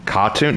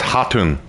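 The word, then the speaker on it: Khatun: ah what was that Caron no it's haton haton it's haton the K is silent in Mongolian I'm doing better this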